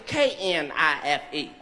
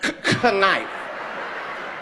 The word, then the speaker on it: knife: K knife. This is what she told me in front of the whole class. She said the K you niggas went to my school. She said, "The K is silent."